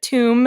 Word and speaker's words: tomb: bit harder um and I think the the B became silent in the Middle English period so after we stole